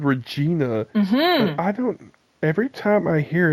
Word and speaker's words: Regina: but I live in a city that rhymes with vagina it just starts with an R yeah it's because I